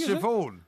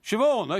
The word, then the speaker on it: Siobhan: Siobhan. Siobhan. Okay. Well, it's the same thing. It's spelled like Simon.